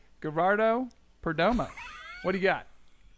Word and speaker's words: Gerardo: Geraldo. That's not right. Gerardo Perdomo.